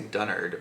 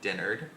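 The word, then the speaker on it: Dennard: Witch by Susan dinner I don't want to say dunnered but it's definitely spelled with an E dinnered I actually like the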